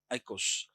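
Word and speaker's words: οἶκος: Eikos. Oikos. Pronounced as eikos.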